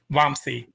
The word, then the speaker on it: Vamsi: And I'm hoping I'm pronouncing your name right. Is it Vamsi? Vamsi.